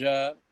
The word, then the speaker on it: Takei: You said you mentioned George Takei as he may be gay. That's how you remember it rhymes.